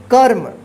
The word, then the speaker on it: क्रम: का उच्चारण होता है जिसको पढ़ेंगे कर्म और इसको क्या पढ़ेंगे क्रम देखिए फर्क देखिए क्रम ये जिस अक्षर में लगा रहेगा उसी अक्षर के साथ उच्चारण होगा और ये जिस अक्षर पर लगा रहता है उस अक्षर से पहले वाले अक्षर के बाद जो है ना आधा र का उच्चारण होता जैसे कर्म ठीक तो आप